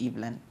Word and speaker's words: Evelyn: so my name is it's a French name so it's pronounced EVN